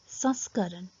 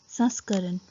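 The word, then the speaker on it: संस्करण: can use that pronunciation this is the another case where the word consists of sirabindu it is pronounced with nasal sound which is usually produced when there is a chandrabindu so the right pronunciation of these words is saskaran saskaran which means version or edition saskaran and saskriti which means culture saskrati so these this word sound is more like nasal so even though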